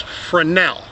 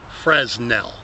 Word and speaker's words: Fresnel: that's another thing folks the S is silent it's frenel not fresnel sometimes I begin to